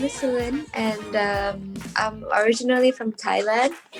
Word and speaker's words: Salin: right pronunciation? Yeah, my name is Salin, and I'm originally from Thailand, but now I'm